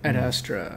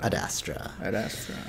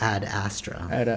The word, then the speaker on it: Ad Astra: astra yeah ok cool I kept messing that one up I was like what is this called like an Astra ad astra is saying it correctly but that is it add a straw or like ad astra it's two words right yeah yeah it is